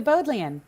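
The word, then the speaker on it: Bodleian: pronounce it but did you go to the both the end live you said it right the boat land okay and if if your answer is yes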